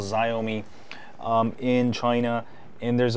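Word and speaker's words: Xiaomi: say a XI but I think it's I don't know there's a different way bunch of different ways to pronounce the company's name and also the wrom way but I'm going to just call it zomi uh I think that's how it should be uh pronounced uh based on its spelling um also my UI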